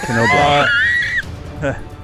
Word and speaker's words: Knoblauch: Except it's pronounced Knoblauch.